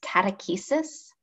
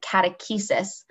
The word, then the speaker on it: catechesis: The first word that I've said, catechesis, has its roots in the Christian tradition. It's spelled Catechis. It sounds an awful lot like the word catechism, which is a book used in the process of catechesis.